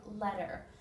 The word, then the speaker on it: letter: two words pretty and letter now we don't say these T's in America when you have a Double T in a word it actually makes a D sound so this is pretty or letter if you pronounce your